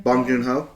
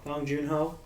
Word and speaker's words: Bong Joon-ho: How do you pronounce his name? Bong Joon-ho. Bong Joon-ho.